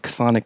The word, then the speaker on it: Chthonic: Besides that, I've been running a little label off and on for a few years called Chthonic Streams. That is the correct way to pronounce it.